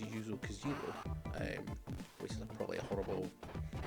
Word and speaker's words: Yuzo Koshiro: has a fantastic soundtrack from, I believe it's pronounced Yuzo Koshiro, which is probably a horrible bastardization I pulled off.